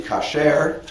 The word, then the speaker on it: kasher: But in biblical Hebrew, the word would be kasher.